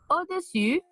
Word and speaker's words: au-dessus: Au-dessus de. Au-dessous de. Ça va? C'est important de voir la différence de la prononciation. C'est au-dessus, au-dessous. Au-dessus, au-dessous. Ça va?